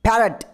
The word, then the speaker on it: parrot: Second syllable ಇದು ಅನ್ಸ್ಟ್ರೆಸ್ಡ್ syllable ಇದು. ಸೊ ಇದರಲ್ಲಿ ಇರುವ ಲೆಟರ್ ಓ ಅನ್ನು ಶ್ವಾಸ ಅ ಬಳಸ್ತೀವಿ, ಪ್ಲಸ್ ಲೆಟರ್ ಟಿ ನ ಟ ಶಬ್ದ ಬಳಸ್ತೀವಿ, ಅಟ್ ಆಗುತ್ತೆ. ಪ್ಯಾರ್ ಪ್ಲಸ್ ಅಟ್, ಪ್ಯಾರಟ್ ಹೀಗೆ ಉಚ್ಚಾರಣೆ ಬರುತ್ತೆ.